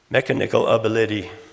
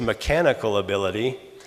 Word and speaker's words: mechanical ability: of the lady now what I really said was mechanical ability but the general accent or tone pattern on both of those words of both four syllable words and generally the second syllable is stressed or accented mechanical ability all I did was remove that accent or stress from the second skill don't put on the first and third instead mekanikle of the Liddy